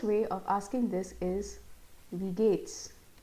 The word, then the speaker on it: wie geht's: जैसे first way of asking this is wie geht's? Wie geht's? Yeah, the pronunciation is this wie should be pronounced like we of English, we, and this is geht's.